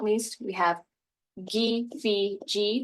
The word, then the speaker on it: KFC: And then last but not least, we have G, Phi, G. That's how we over here at the Mvskoke language program say KFC.